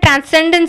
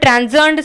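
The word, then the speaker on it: transcend: இந்த இடத்துலையும் டிரான்செண்ட்னு சொல்லக்கூடாது, டிரான்செண்ட் சொல்லணும். எஸ்ஸை வந்து இசட்னு உச்சரிக்கணும்.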